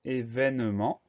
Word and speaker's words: événement: Alors, premier son, le son E va s'écrire E accent aigu. Deuxième syllabe, V va s'écrire V, E accent aigu. Ensuite, ne, N-E. Et ment à la fin du mot, M-E-N-T. Ça veut dire qu'on a une lettre muette, le T à la fin, qu'il va falloir retenir.